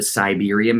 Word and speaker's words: Cyberiam: Like Pink Floyd is obviously one everybody would know from an earlier time, but that's another band of mine called the Siberium. It's spelled Cyberiam.